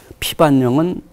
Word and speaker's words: 피반령: 예 예 그렇기 때문에 피반령은 어 피밭 영의 어입니다 피밭 발음하기 쉽게 거 피밭 영을 어 이어 소인 나면 피밭 영이 되죠 어 이것을 국어 문법에서 자음 저변이 합니다 아 그러면 사람들이 왜